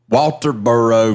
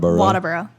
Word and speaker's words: Walterboro: A Walterboro native. How do you say it? Walterboro. Walterboro now, but Waterboro.